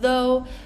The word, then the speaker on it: though: we have Ruff um all of these words that end in o u g h and almost every single one is pronounced differently so definitely be careful with those words so again we